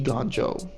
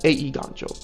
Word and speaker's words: Eiganjo: creature section City Traders eiganjo seat of the Empire or a eiganjo that's how you pronounce it cuz it's Japanese a e ganjo yeah emergent Zone flooded